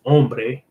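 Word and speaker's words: hombre: I is your I is your man is Ombre ombre and it's spelled with a h so it's h o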